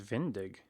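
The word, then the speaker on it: Venedig: Where is Vendig? Oh. Aha, it's Venetia, but it's a German pronunciation.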